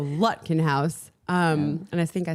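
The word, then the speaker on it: Lutkenhaus: It's like with like a putt in golf. So Lutkenhouse.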